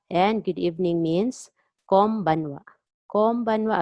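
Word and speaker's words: こんばんは: Konbanwa again, pronounce N as M, konbanwa, konbanwa.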